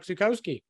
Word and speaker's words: Zukowski: back on the show again uh Mr Chuck zukoski hey thank you very much thank you for